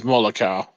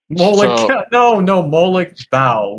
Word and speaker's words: Molag Bal: Alright, then it's Molokau. My bad for the mispronunciation. Molag Bal with a B.